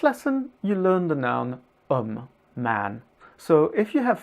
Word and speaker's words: homme: But in French, just like in Spanish, the H is not pronounced. So with le homme, we end up trying